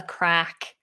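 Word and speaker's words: craic: And crack isn't spelled as you would expect it, c r a c k. It's spelled c r a i c.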